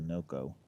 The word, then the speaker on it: NOCO: so what I have in addition to the Noco that's how you say it I have also